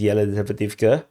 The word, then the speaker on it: Yelizaveta: Like, like I would have pronounced this as jelly Zavetivka because there's a jelly there, but no, the although it's actually a Y, is Yelizaveta, but they somehow in